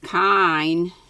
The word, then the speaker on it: kine: Castle, and lowing of kine, K-I-N-E, let's see what that says it is. Cows, that's what I thought. The cattle are lowing. Let's see if it's pronounced like it looks. Oh, yeah. Kine.